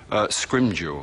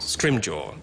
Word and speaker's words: Scrimgeour: How do you pronounce it in English, the name? Scrimgeour. Scrimgeour.